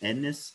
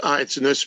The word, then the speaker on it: Ennis: Ednis, am I pronouncing that correctly? Ednis? It's Ennis, but I couldn't spell it or pronounce it till I was 18, so you're forgiven.